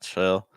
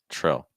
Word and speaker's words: trill: so it's not real it's not chill it's Trail trill and now we have